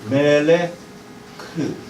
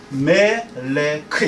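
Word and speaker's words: מֶלֶךְ: 그 다음에 조금 좀 까다롭지만 요게 리을 발음이에요. 리을. 요게 르. 요거에 다시 요거 붙으면 멜레야. 멜레크. 히브리어는 이렇게 쓴다는 거 아시죠? 히브리어는 이렇게 써요. 멜레크.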